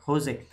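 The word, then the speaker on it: José: need to pronounce it Jose I was calling it Jose yeah it's like a Spanish name typical Spanish name so J is pronounced as H yeah yeah correct correct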